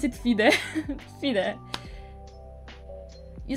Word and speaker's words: FIDE: you know how do you pronounce fide we pronounce it fide see that you said your blunder and then